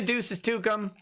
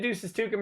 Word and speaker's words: duces tecum: to produce documents okay so yes a subpoena duces to come and yes I know it's pronounced wrong and I don't care I don't